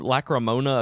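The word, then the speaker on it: Lacrimosa: newest Nintendo Direct video when they pronounced it they were like East the lacrymosa lacrymosa of Dana like hermosa of Deus something like that it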